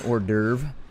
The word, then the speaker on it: hors d'oeuvre: I know that it's got like an H-O-E-R or something in the front of it, and it says like dover is the second part if you said it phonetically.